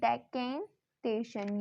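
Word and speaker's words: decantation: यूज करेंगे, सेंट्रीफ्यूगेशन, डेकेंटेशन, इसका pronunciation होगा डेकेंटेशन, using सेपरेशन funnel, oil from water.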